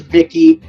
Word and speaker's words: Vicky: And just so everyone does know, it is Vicky.